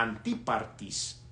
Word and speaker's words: Antipatris: Y los soldados, tomando a Pablo como se les ordenó, le llevaron de noche a Antipatris, así se pronuncia esta ciudad.